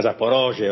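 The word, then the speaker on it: Zaporizhzhia: E l'ennesimo tentativo ci hanno provato anche a Zaporozhye o Zaporizia, non mi ricordo esattamente come si pronuncia. Zaporizia, certo. Zaporizia, sì, è l'ennesimo Sì, tentativo.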